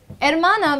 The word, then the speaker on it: hermana: For example, in Spanish, there's a word called hermana. Hermana means sister in Spanish, but they just remove the H and they say hermana.